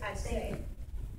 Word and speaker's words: Ashe: My oldest daughter that's videotaping, her name is Ashe. In Africa, they pronounce it Ashe. And it means amen or I agree with God.